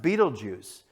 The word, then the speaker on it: Betelgeuse: well-known the star is beetle geese or sometimes pronounced Betelgeuse and the article says